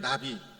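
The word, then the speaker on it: נביא: 바로 호세아 예언자였다 것입니다 예언자는 히브리어로 나비라는 발음을 하게 됩니다 우리나라 발음으로 읽다 보면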